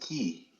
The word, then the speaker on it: quay: head straight to the water side and uh the quay and uh say it's pronounced key.